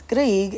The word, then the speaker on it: Grieg: next one for composer the composer's name is grieg and i have to flip to my thing to make sure i spell it correctly krieg g r i e g that is the